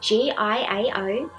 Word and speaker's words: Giao: Hey everybody, I'm Giao and welcome to my channel. Hey everybody, I'm Giao and welcome to my channel. My name is spelled G-I-A-O but pronounced as Giao and I'm an artist.